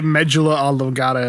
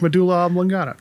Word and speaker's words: medulla oblongata: think they even say medjula a legata in the movie and i'm like no that's not how you say it you gotta say it like medulla oblongata god no colonel sanders